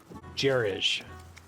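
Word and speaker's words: gerege: How is that word pronounced? Jerij.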